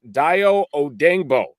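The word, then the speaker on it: Dayo Odeyingbo: By those standards, and then following that up with, and we're going to get the pronunciation right here, it is Dio Odengbo.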